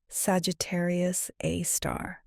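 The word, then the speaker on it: Sagittarius A*: They called it Sagittarius A, pronounced Sagittarius A star, and it would turn out to be one of the most important objects in the galaxy.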